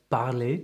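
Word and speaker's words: parler: for example the word barley meaning to speak has a silent r at the end and there are two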